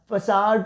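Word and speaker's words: façade: फसाड pronounce क्या करेंगे students? मेरे साथ-साथ बोलिए एक बार। फसाड प्रोनाउंस करेंगे।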